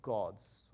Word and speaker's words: God: He said the G sound is pronounced like ch, right? So he's saying, like the word, he used the example, he said the word God. In English, you pronounce it God.